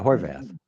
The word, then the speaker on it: Horvath: on okay let me first ask am I pronouncing your last name correctly yeah Horvath okay cool it's been a topic of debate